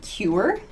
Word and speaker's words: cure: to mention the word cure cured here cure cure this is an interesting you sound that cure cute cute it sounds like the letter Q Q but we pronounce